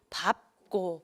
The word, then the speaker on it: 밟고: 밟고가 아니고 밥고, 밥고. 장음입니다.